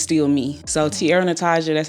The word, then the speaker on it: T'Ara Natizha: your your stage name my name is pronounced Tierra Natasha okay yes um and my real name my real name is Tiara so it's just spelled different okay how did you